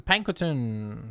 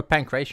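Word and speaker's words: pankration: We need to go to the Pankton. Let's go to Pankutton ring. Sure. If we're not going to work, then let's kill some time in the pancration ring. Oh, pancration ring. I completely mispronounced that.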